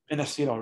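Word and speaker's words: Innacito: In Acetyl, ready? I-N-N, that's Nancy, A-C as in cat, I-T as in Tom, O, in Acetyl, just like it's pronounced, in Acetyl.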